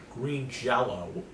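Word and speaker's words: Green Jellÿ: green jelly t-shirt on green jello with even though it's spelled jelly it's pronounced jello that's that's that's the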